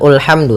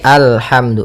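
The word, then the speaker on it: الْحَمْدُ: Nah, di sini bukan ulhamdu tapi alhamdu.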